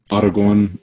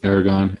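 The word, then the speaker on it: Aragón: right last name right did i say that right autogone paragon yeah either one works all right gets my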